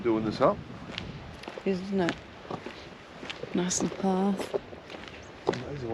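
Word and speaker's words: gneiss: Well, they look like they'd make some nice bench tops. Yeah, granite. It's all part of the granite family, I reckon. Well, that second one is pronounced nice.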